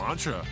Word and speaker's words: Lancia: Ooh, Lancia. I didn't know he spoke French. Well, apparently that's how it's pronounced. You know, 3D, I'm just too American to make that ch sound without a C and an H.